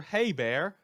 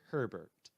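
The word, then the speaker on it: Hebert: Alexandria's murderers name wrong that should have been Taylor hey bear not Taylor Herbert and fortunately I can't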